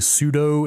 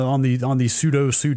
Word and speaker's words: sudo: I've mentally locked myself into saying pseudo instead of sudo. What? It's sudo, man.